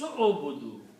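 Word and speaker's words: اعبدوا: But when you are reading in Tajweed, then you are reading Ya ayyuhan nas u'budu. So you don't pronounce the alif here.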